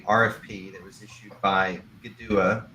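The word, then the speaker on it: Kituwah: that was issued by GDUA. It's spelled Kitua with a K and a T, but pronounced with a G and a D. GDUA LLC, which is the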